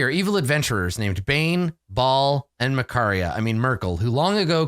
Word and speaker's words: Baal: Baal or Baal. Let me check the pronunciation guide. I think it might be the official one is Baal.